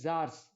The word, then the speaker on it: tsars: That is pronounced as czars.